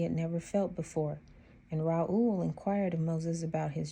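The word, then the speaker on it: Reuel: Strong's number 7467, pronounced Raul.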